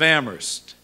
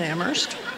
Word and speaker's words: Amherst: we all know that only the H is silent in Amherst I promise we will